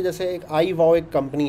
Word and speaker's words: iVOW: फिनॉम्स ये हैं कि भाई आप ना कोई ख़ास प्रोनाउंसिएशन बुलवाना चाह रहे हैं, तो जो मिसाल के तौर पे जैसे एक आई वाओ एक कंपनी है जिसके लिए मैं कुछ अरसे